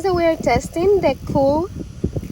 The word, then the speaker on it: Xool: The Xool, I believe it's Xool the name. Yeah, it's spelled cool, but with an X.